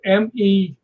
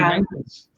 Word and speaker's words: Menzies: But that letter is pronounced like a G. Like a D? Like a G. So it'd be Menzies.